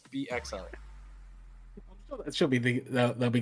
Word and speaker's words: PXL: No, don't say Pixel. Don't say Pixel. Yeah, is it okay, PXL? So you have to pronounce every letter individually.